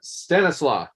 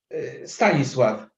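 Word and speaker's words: Stanisław: Well, Stanislaw, tell me how to say it right. Stanislav. That's good.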